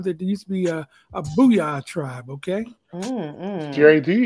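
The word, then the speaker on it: Boo-Yaa: All beat up if you mispronounce the booyah tribe. Did I say booyah? I said booyah.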